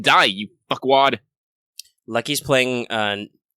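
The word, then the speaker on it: Nioh: Lucky's playing Nio right now. Or Neo. Neo. That's what I think. Yeah. It's Yeah, Japanese. Neo. You gotta remember your pronunciations.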